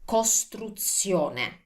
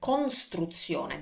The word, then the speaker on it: costruzione: Let's start with construction, costruzione. And many students say this like costruzione. They want to keep the N, but as you can see, there's no N in Italian.